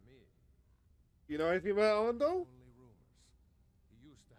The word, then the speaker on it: Arundel: Arundel, that's how you pronounce the name.